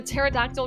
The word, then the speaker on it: pterodactyl: can't hear the a pterodactyl goes to the bathroom because the p is silent holy truck this smoothing